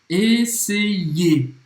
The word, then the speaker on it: essayer: Antes de tudo, percebe a pronúncia desse verbo. Essayer. Essayer. Mais uma vez, como se fosse dois I.